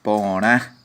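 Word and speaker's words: porã: Se dice porá. Y aquí tengo un problema. La A, la letra nasal.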